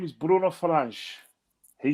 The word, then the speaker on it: Fernandes: No, it's Fernandes. It's Fernandes. Because the thing about it is that, like Portuguese, in Portuguese, the S, the ES is like S. But what's happened is it's a silent thing as well.